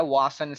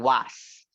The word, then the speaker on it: was: was right I mean was was but if I'm mistaken the pronunciation of this one is with a schwa which is was okay was we don't stress it out now let's see